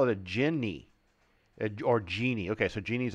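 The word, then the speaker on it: djinni: oh a genie I would call this a gin they call it a Ginny or Genie okay so Genie's okay drows drow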